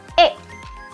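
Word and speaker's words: へ: huruf hiraganahe yang mana Kalau kita baca sebagai partikel adalah e e jadi ada Wa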